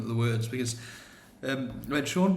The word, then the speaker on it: Sean: the words because um Sean Bean's probably got to be the best example of it ever. And um when I was a kid, I used to pronounce his name Sheen Bean because it's totally what totally what it calls for, isn't it?